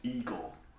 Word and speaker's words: Igor: frederick frank enstein immediately rather than others name pronounced as I got insisted his name is Igor an assist on : Gene Wilder's cards are